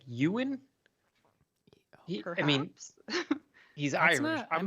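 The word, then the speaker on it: Eoin: can pronounce this e-o-i-n is it like ewan i mean he's irish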